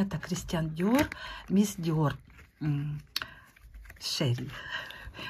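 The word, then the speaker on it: Chérie: Шерри. Так вроде бы правильно читается.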